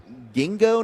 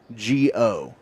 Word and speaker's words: Ginkgo: Gingo nuts. Spell that for me. Gingo, like It's like- Gingo. I might have butchered the pronunciation. Ginkgo.